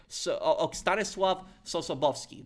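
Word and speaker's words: Stanisław Sosabowski: Ostanis Sobski. That's how you pronounce it in Polish. That was the name of of the Polish general. So Stanosav Soowski, he was against Market Garden.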